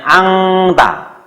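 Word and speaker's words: أنت: artinya n ini dibaca n-nya ini ditambah dengan g, yaitu bacanya angta. Bacanya angta. Bukan anta tapi angta.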